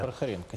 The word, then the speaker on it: Прохоренко: Правильно я ставлю ударение? Да-да. Прохоренко.